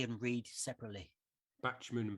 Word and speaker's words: Bachman: say and read separately bachmann bachmann yeah right but i say it like batman i don't think i